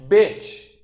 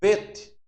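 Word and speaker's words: ב: Quando ela tem um pinguinho aqui, ó, se pronuncia bet, é B, né? Como o nosso alfabeto AB. Então pronuncia B, bet, bet. Se tirar o acento, aí você pronuncia vet, como fosse o V de V, né? Vet, vet. Então com acento é bet. Sem o acento é vet.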